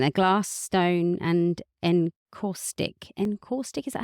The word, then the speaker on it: encaustic: Encaustic, is that how you say it?